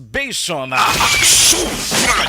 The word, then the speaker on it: basium: Ang isa mga kaaksyon ning Basium or B-A-S-I-U-A-I-U-M or pronounced as Basium.